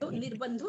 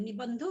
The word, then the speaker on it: निबंधो: निर्बंधो नहीं है, निबंधो है, वो र का उच्चारण पहले हो जाएगा ना। श्रुतयोर जो भी सुने, श्रुतयोर निबंधो ऐसे होगा।